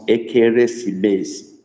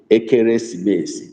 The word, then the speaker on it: ekeresimesi: Christmas is spelled ekeresimesi in Igbo. And you wonder why it sounds that way. We don't have Christmas in Igbo. It's not known to us. It's a foreign celebration. So we borrowed that word, Christmas, and we Igbonize it. It becomes ekeresimesi. Okay, ekeresimesi. That's how we pronounce it.